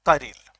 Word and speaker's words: chiral: आती है आपके पास कारेल, CHIRAL। प्रोनाउंसिएशन आपके पास ये रहेगा कारेल का, गूगल सर्च कर लें आपको पता चल जाएगा कैसे प्रोनाउंसिएट करते हैं इसको। टर्म है कारेल।